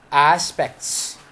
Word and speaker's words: aspects: Aspects. There is no te.